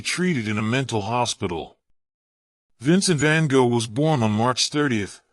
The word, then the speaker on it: Vincent van Gogh: Vincent van Gogh, or Vincent van Gogh, pronounced in Dutch, is considered one of the most famous artists in the world.